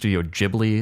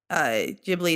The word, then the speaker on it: Ghibli: His studio Ghibli, it's spelled Ghibli, is the probably most well-known producer of like Japanese anime films out there.